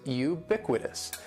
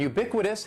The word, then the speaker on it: ubiquitous: The first word is ubiquitous. And ubiquitous has 4 syllables. That first syllable is just like you're saying the letter U. Ubiquitous. And the stress is going to be on that second syllable. Ubiquitous.